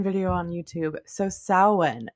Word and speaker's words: Samhain: It's supposed to be Samhain, not Samhain, which is the way that I want to pronounce it.